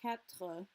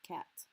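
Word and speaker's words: quatre: with ovoir and overwhelm people further north are more likely to say capta versus people south they're more likely to say cat before we go on it's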